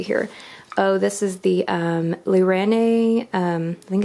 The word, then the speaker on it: Lirene: Oh, this is the Lirene, I think it's pronounced Lirene.